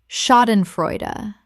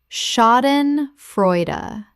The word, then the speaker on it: Schadenfreude: Schadenfreude. Common mispronunciation. Schadenfreud. Correct pronunciation. Schadenfreude. Four syllables. The sh makes a sh sound and the final syllable is a not silent.